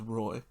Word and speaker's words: Roy: I did find out that is how you say it is, Roy.